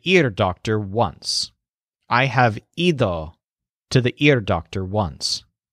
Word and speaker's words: ido: The word here on ear's roof is ido, So the stressed syllable sounds kind of like eat.